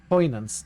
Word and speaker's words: poignant: Poignant. G is silent. N is more of a ni.